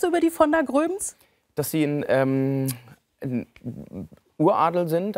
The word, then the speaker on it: Groeben: Also, der richtige Name, Maximilian Alexander Graf von der Gröben. Ne? Betonung auf den Schluss.